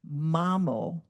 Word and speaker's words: Mamo: It's actually Mamo, but the Malikini couldn't pronounce Mamo, so she became Mayo, so she legally changed her name to Mayo.